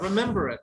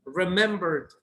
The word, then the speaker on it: remembered: No, it's not remember it. It's remembered. Remember, you can only pronounce D.